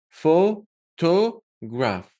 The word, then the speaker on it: photograph: If it's the word photograph, you stress the first syllable. This means you make it a little bit longer and louder. Photograph. See? photograph. Photograph. If you notice, to graph, like to graph is pronounced quickly and fast.